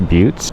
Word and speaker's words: butte: geologic rock formations um like these mesas and buttes um it's spelled butts but it's pronounced buttes also it's like a well-known spiritual destination where